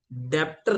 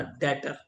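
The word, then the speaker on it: debtor: एंड एक नया word बताऊं आज डेप्टर नहीं कहना बताया था डेटर। क्या वर्ड है? डेटर बी साइलेंट है बच्चों।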